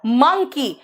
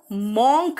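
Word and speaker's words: monk: एम फॉर म है pronunciation इसका, मंकी। बेटा इसको मंकी नहीं कहते, इसको मंकी नहीं, इसको मंकी कहते हैं। इसको मॉन्क नहीं कहते, इसको मंक कहते हैं, है ना।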